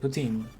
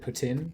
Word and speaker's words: poutine: you do pronounce it poutine, not. Yeah. Oh my gosh, here it is so painful here to hear to when people pronounce it poutine. Like, no, it's not how you say it.